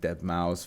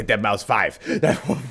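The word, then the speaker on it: deadmau5: like da Punk and dead mouse F Dead Mouse I was about to say dead mouse 5 I be like whoa no that's not how you say it I get it does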